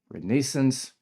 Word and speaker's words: renaissance: Baguette, cigarette, croissant, renaissance or as the British say renaissance and sometimes fancy sounding terms like or your reason for being, reason for living, purpose in life.